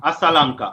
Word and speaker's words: Asalanka: Nasanka, and I And cannot pronounce the next Alasanka, name. Asalanka.